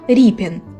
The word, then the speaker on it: Рєпін: підписував себе Ось так а за нормами тодішного українського правопису друга літера читається як і тобто ріпін художник нащадок козацького роду